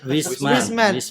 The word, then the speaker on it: Wisem: Oke, Wisem bacanya wisem gimana? Wisman. Wisman Mulia Sejahtera.